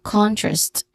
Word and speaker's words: contrast: The first syllable is the phrased, the stressed syllable, contrast.